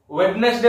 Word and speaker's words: Wednesday: कोन उच्चारण करछो को वेडनेसडे उच्चारण करछो. एटा तुम करछो वेडनेसडे करछो ना एटा भूल. वेडनेसडे बोली पढियो नै एटा हो वेडनेसडे हो कोन हो वेडनेसडे वेड नै डी साइलेंट रहबो वेडनेसडे.